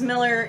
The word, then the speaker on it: Millar: And it's pronounced Miller, it's just the Scottish spelling.